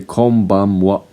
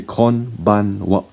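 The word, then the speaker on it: こんばんは: If you say konbanwa, that's correct. If you say konbanwa, that is also correct. Or if you say konbanwa, that is also correct.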